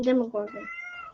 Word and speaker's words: Demogorgon: it is is it is it a demon gorgon demo gorgon however you pronounce that he's pronouncing demogorgon okay projection voice towards the microphone yes you got it correct it is a demogorgon it's a demogorgon it